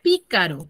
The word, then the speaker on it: pícaro: Ahora, la palabra pícaro. ¿Tiene cuántas sílabas? 3. 3. 3 sílabas. ¿Y dónde tiene la mayor fuerza de voz? En pi. En pi. Pícaro. Pícaro.